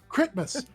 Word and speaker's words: Critmas: Critmas. Not Christmas. No, crit. No, don't spell it. Yeah, Critmas.